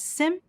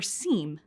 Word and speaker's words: SIEM: The acronym S-I-E-M may be pronounced as sim or seem, but we'll use sim throughout this program.